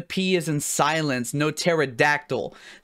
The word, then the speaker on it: pterodactyl: No pterodactyl. The pee in pterodactyl is silent.